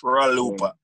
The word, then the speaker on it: Traloopa: My name is spelled Traloopa. It's not Cha. It's Traloopa.